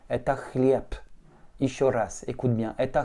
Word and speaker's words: хлеб: Exemple, dans le mot chlieb, le B est une voyelle voisée, puisque lorsque tu fais un B, tes cordes vocales vibrent. Comme elle se retrouve en finale, elle va se prononcer non voisée, et donc ça va te donner la lettre P.